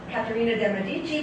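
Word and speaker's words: Caterina de' Medici: In Italian, as my Italian friends would say, Caterina de Medici, but here in America, we make it a point to mangle other people's languages, so I'm going to use the American pronunciation.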